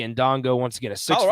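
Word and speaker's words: Ndongo: butchering that first name it's spelled b-a-y-e Bay in Dongo n-d-o-n-g-o so last name sounds right yeah unless the end is silent it's just Dongo that is also a possible that's also a possibility so who knows I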